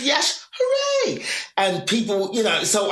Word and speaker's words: Yashere: got this thing now i go it's yesterday i think yes hooray and people you know